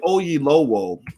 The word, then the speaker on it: Oyelowo: his name right because i don't want to mispronounce the brother's name but david ogie lowell uh is an actor that you've seen a